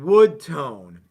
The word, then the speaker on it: Wudtone: There is a product called Wood Tone, and it's spelled kind of funky. WUDTONE, but it's WUD, Wood Tone.